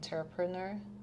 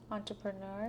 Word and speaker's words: entrepreneur: And that's the thing that every um inter ent interpreneur am I saying it right? Oh entrepreneur entrepreneur says we avoid um